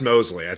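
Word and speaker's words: Moseley: is Mark Mosley no I think it's still pronounced Mosley is how that would go it would it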